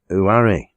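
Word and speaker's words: Uamh: Loch Eelt, and overland again to Loch Nan Uari, which is spelled U-A-M-H, and is Gaelic for cave.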